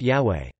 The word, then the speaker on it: Yahweh: Other Greek transcriptions also indicated that YHWH should be pronounced Yahweh.